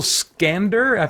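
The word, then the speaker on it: Iskander: who these characters are Michael scander that's how you say his name he plays David he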